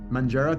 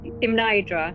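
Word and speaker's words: Mnajdra: So you guys are going to be near this, how do you pronounce this? Manjara temple when you, for the solstice tomorrow? Imnaidra, yes.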